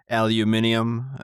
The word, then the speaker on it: aluminium: Aluminium, uh aluminum, aluminium.